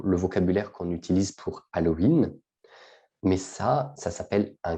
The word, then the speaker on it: Halloween: en français on prononce halloween on ne prononce pas le h très bien alors c'est